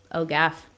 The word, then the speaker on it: OGAF: o g a f o gaff we're just getting really lazy with how we pronounce it so um ogaf is